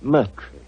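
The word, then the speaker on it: Murtry: Doctor uh my name my name name is Merry Oh indeed spelled m u r t r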